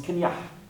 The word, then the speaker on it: Kenner: Vous ne trouverez pas beaucoup d'animaux africains, mais Kenya, c'est la prononciation locale en breton du mot Kenner. Alors on le prononce Kenya.